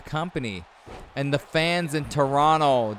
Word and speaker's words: Toronto: And the fans in Toronto, don't pronounce the second T.